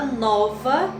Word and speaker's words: nova: Na palavra nova, nós temos a separação da sílaba nova e a sílaba mais forte é nó.